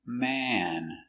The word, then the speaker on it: man: closer at the pronunciation pronunciation one man m a ma m man open sound man one man two M it's closed more closed and it's short so again one man